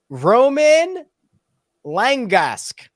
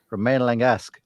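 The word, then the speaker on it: Romain Langasque: how do you pronounce Roman lingesque yeah that's what I said I mean you said Roman Romaine like the left you gotta roll the r ude that was better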